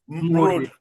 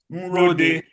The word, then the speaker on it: Mrode: Professor Raphael Raphael Mrode.